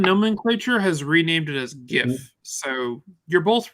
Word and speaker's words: GIF: When they ask the guy who created it how you should say, he goes GIF, like the peanut butter.